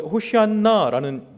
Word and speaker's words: 호산나: 호산나가이 원래 호시안나라는 발음입니다. 구약의 호세아와 같은 발음이에요.